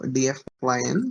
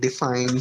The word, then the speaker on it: Dfyn: Yeah, so Dfyn, you can pronounce it, however, it does not have vowels. So DFYN. So some people call it define, some will call it Dfyn, some will call it something entirely new.